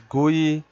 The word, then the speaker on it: GUI: For example, you provide an input to application, it provides you the output on the screen, pronounced as GUI, gives an application a distinctive look and feel.